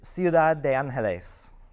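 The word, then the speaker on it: Ciudad de Ángeles: absolutely absolutely so uh in spanish it's ciudad de angeles that's awesome and tell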